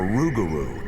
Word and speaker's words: Rougarou: The lugaroo or rugaroo as the local cinjun pronounce it is not a peaceful beast like Bigfoot.